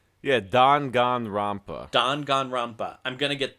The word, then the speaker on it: Danganronpa: talking about dangan ronpa won the am i pronouncing that correctly yeah dangan ronpa dangan ronpa I'm gonna get there I said I said Dan gain rampa for the longest time so I I get